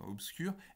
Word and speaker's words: obscur: et cetera obscur justement mais tout ça ce sont des mots qui s'écrivent avec un bep ne se prononce pas avec un b ça on l'a vu la semaine là à ce moment le semestre dernier déjà en phonétique le bain dans obscures le son la lettre b pardon obscures est prononcée avec le sont peu pareil dans ah ben